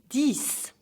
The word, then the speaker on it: dix: Dix. Say it like six, but this time it's dix.